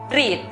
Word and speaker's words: read: pronunciación correcta es hills igual ocurre con la palabra leer si consultamos en el diccionario notamos que no está separada por lo tanto es una sola sílaba donde encontramos la e con la juntas la pronunciación correcta para la palabra leer es read veamos otros ejemplos pico